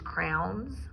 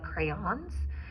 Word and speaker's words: crayon: these crowns instead of crayons. So it's actually a syllable, so we would clap it out. Crayon, crayon. So 2 syllables, crayon. So instead of crown is 1 syllable, crayon is 2 syllables.